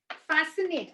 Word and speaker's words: fascinate: example muscle muscle right and also scissor seen fascinate i'll just give you one more scenario okay